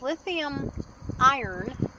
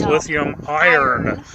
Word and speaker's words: lithium iron: It's lithium iron, and so it can run all the way down to like 0. And she didn't mispronounce that. It's lithium iron with an R.